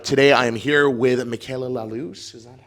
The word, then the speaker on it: Michaela Lallouz: Today I am here with Michaela Lallouz. Is that how you pronounce it?